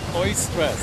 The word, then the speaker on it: eustress: Some of you might have heard of EU stress, which means good stress. You know, and we're probably actually adapted. What's that? Oistress. Oistress. Yeah. Well, that would probably be the more correct pronunciation, right? in Greek.